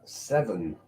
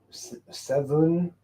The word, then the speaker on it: Severn: It's not the Thames. And it's definitely not the River Wey either. It is the River Severn. Severn? Yeah, Severn. Although it's spelled weird.